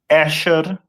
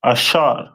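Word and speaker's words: אשר: to Uruguay uh and their name is pronounced in Hebrew as asher a which ashar which means happy and the symbol is a royal dainties.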